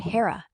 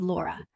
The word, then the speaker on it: Lora: I heard Hara, but you said Laura because that's who I am. Not Grock. Not some other voice. Laura.